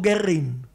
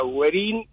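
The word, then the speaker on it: Güerrín: se dice cuernin o querrín y la verdad que la pronunciación Sería con la diálisis o sea güerin y inclusive no hacer tanto hincapié en la doble r no porque ven esto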